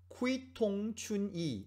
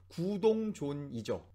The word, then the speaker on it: 구동존이: 이거 사실 이 표현 요즘 한국 신문에도 많이 나오는데 일단 여기 호주 신문에 나온 알파벳을 읽어보면 쿠이통춘이 뭐 이렇게 읽을 만한 그런 건데 우리가 알고 있는 발음은 구동존이죠.